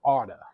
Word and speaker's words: oughta: In addition to should, we can also use ought to or oughta. That's how we pronounce it.